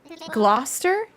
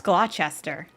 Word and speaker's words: Gloucester: Gloucester? No, that's Gloucester. Really? Gloucester?